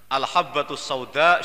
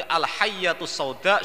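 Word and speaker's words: الحبة السوداء: Kemudian karena dia tidak punya guru, bacanya keliru. Bukan al-habbatus sauda, tapi al-hayyatus sauda syifa min kulli da. Kalau al-habbatus sauda itu jintan hitam, kalau al-hayyatus sauda itu artinya ular hitam.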